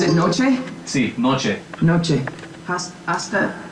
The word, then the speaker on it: hasta: Hasta, you don't pronounce the H?